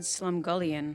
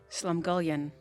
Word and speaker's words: slumgullion: point of you said slumgullion uh-huh what did you say slum golian go yeah so you don't actually like emphasis is on the first slum you see this word